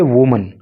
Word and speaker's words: women: देखिए, वुमन, इसको हम पढ़ेंगे वीमन। एक्चुअली है क्या, जब WOMEN होता है तो इसके प्रोनाउंसिएशन होता है वीमन, और इसका अर्थ होता है एक से अधिक महिलाएं।